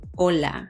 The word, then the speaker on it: hola: or empero oy so the h sound doesn't say it's a more it's more silent oh ola it's not hola it's